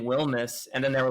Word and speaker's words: Wilmes: And they were like, "Is your name Wilms or Wilmness?" And I was like, "It's pronounced Wilmness."